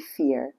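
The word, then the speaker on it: fiere: going to call it Feerie um which is spelled f i e r e which is an old Scots word for friend. Um it's actually fear, but uh the wonderful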